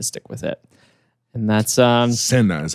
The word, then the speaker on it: SINA: And that's SINA is how he pronounced it.